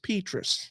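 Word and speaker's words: Petras: time we recorded this his name apparently is pronounced petus the good news here that is completely the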